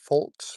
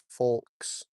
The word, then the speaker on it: folks: Folks, folks, my wife is following me. I always say folks like I add the L there even though the L is silent.